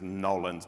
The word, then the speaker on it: New Orleans: Good morning, Nolins. Nobody said it like that. Hello. Yeah, that's the way you really say it is Nolins, by the way.